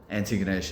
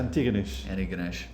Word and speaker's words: Antigonish: And so you're now in a place called, I'm going to get the pronunciations, is it Antigonish? Antigonish, yeah. Antigonish.